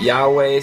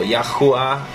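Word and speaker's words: YHWH: Some people pronounce it Yahweh, some people Yahuwah. So there's different ways we can pronounce it.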